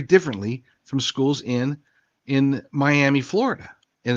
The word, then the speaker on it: Miami: have used the the example of mam Oklahoma spelled the same way but pronounced differently miam Oklahoma versus Miami Florida point being is is